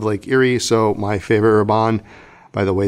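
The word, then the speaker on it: Herbin: Erie so my favorite raban by the way the H is silent is vert atlantique the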